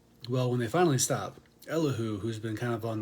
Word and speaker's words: Elihu: afflicted him enter elihu i had to look up how to pronounce his name because i wasn't sure and and the little little like eyeless robot face on google told me it was elahu so i'm gonna go with that but uh this guy